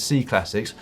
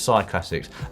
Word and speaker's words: Cyclassics: probably pronounced incorrectly, says, why do you pronounce C Classics as C Classics? Presumably it's Cy Classics. You don't call a cycle a sequel, do you?